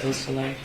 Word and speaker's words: Beausoleil: Could you tell me the pronunciation of Madison Baldwin's mother's name, Nicole Beausoleil? Yes. Beausoleil.